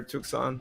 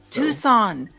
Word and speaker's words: Tucson: and and one nil uh jared's neighbor there tucson up tucson i swear to goodness about the sea this knee is silent but he's but he says it